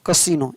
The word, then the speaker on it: casino: जैसे यहाँ पर देखिए CASINO, यहाँ पर आई का उच्चारण क्या होगा, बड़ी। तो कसिनो, इसको पढ़ेंगे CASINO, कसिनो।